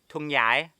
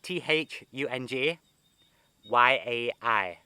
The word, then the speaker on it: Thung Yai: pronounced thung yai because the th in english is pronounced but in thailand the th is a t so for the first